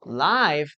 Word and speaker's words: live: Well, because the pronunciation changes. Look at this. I like live music. I like live music. Now, live is different.